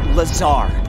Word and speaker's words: Lazar: Rangers, a researcher in RR&D department, and its sales liaison. It's Lazar, actually, accent on the Czar.